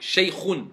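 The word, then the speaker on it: شيخ: Dis kha. خ Khou. Khi. خي Voilà, faut bien appuyer. Shaykhun. شيء Pas shaykhun. Shaykhun. شيء Voilà. Shaykhun.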